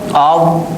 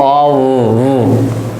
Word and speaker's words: of: बहुत से लोग जो हैं इसका उच्चारण गलत करते हैं, आप लोग इसे ऑफ कहते हैं, वो गलत है। इस शब्द का उच्चारण जो है वो ऑव होता है। वो concentrate on my lip and teeth. It is not off. Okay, it is ऑव। ठीक है, लेबिडेंटल साउंड। इट इज ऑफ, याद रखिए।